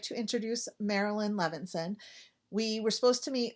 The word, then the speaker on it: Marilyn Levinson: asked before just to make sure I don't mispronounce it's Marilyn levenson yes correct um sometimes I like to check